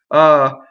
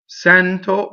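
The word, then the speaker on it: sento: Sɛnto, Sɛnto, open, E. Now look at what happens to the N going into the T. Sɛnto.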